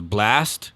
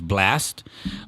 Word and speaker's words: BLXT: I don't want to mistake this name, but I want to say his name is Blast. He's a singer, BLXT, and I think the X is supposed to be an A.